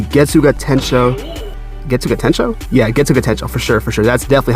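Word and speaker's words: Getsuga Tenshō: Yeah, Getsuga Tensho, for sure. That's definitely how you pronounce it.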